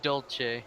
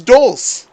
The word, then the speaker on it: Dolce: tried so hard but you still pronounced it wrong what that's Dolce what that's dull that's Dolce from Nereo one of these